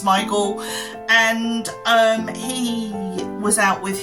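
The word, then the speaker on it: Sméagol: Some people look at it and think it's Smeagol, but it's actually pronounced Smeagol.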